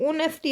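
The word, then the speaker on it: honesty: देखो ये ऑनेस्टी आ गया। मैंने अभी कराया था। ओ साउंड है। यहां पे एच साइलेंट है। ह साउंड नहीं है।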